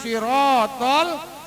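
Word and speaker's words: الصراط: boleh sembarangan tasbihnya ihdinas sirotol mustaqim ihdinas shod dibacanya mau monyong kalau Sin eee bibir kita dilemparin artinya bisa berubah itu bukan jalan kalau sirotol jalan tunjuki kami jalan yang lurus tapi kalau short-nya diganti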